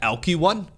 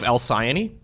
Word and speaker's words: Alcyone: So, we've had Elky 1 instead of Alcyone.